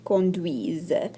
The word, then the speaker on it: conduisent: Au pluriel, nous conduisons, vous conduisez, elles conduisent. Et bien sûr, ne prononce pas le ENT. Ça me fait très triste quand vous prononcez le ENT.